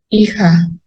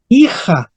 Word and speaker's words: hija: con h pero ojo en español moderno no pronunciamos la H porque filia en español